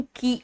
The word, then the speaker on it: quay: बेटा ये इसका प्रोनाउंसिएशन की आता है। QUAY में यू और ए का प्रोनाउंसिएशन ही नहीं है, इसका प्रोनाउंसिएशन है की।